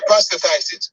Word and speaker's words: prostatitis: Yeah, prostatitis.